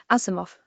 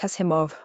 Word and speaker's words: Asimov: 1920 Wikipdia Commons Azimoff pronounced as he described it like Asimov was nothing short of a prodigy writing far